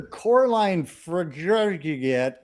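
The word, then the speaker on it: Coralie Fargeat: Director Coraline Frigget. Yeah, that's Great actually name. how it's pronounced.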